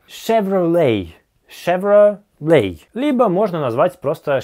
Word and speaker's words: Chevrolet: Следующая американская марка — Chevrolet. Шевроле.